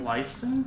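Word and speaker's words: Lifeson: His last name is actually literally Lifson in Croatian. Lifson, like life and then son.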